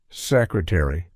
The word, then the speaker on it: secretary: In this case, ARY at the end of words is fully pronounced in American English. For example, we articulate the entire word: library, secretary, military.